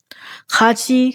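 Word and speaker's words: 같이: ดี แบบ นี้ มึะ คาชี คะ คาชี คะ ไป ด้วย กัน ม คำ นี้ ออก เสียง ว่า คาชิ คาชิ คาชิ คาดะ ก็ คือ ไป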